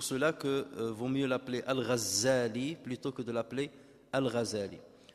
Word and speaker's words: al-Ghazali: Alors il y a une divergence entre les savants concernant la prononciation de son nom. Est-ce qu'on l'appelle Ghazali ou bien Al-Ghazali? Mais beaucoup vont dans le sens de Al-Ghazali, puisque ça fait référence au métier de son père qui tissait la laine.